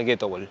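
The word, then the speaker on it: gateball: selva brasileña diferentes condiciones este deporte se llama guetobol que en inglés se escribiría Gates de como de puerta Solo que la pronunciación Así es gueto al menos acá en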